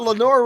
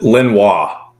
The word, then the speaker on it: Lenoir: Is that how you say it, or is it Lenoir? It's Lenore Ryan. It's Lenore, okay. Maybe in France it's Lenoir, but I promise you, North Carolina, it's Lenore.